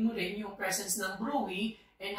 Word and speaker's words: bruit: Okay, it pronounced as Bruy daw, not Bruits.